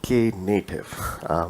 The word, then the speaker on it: Knative: native sorry k native it's pronounced as k native it's basically a native